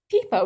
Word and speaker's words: Pippo: I'm pronouncing it, or is it Pippo? Pippo, nice.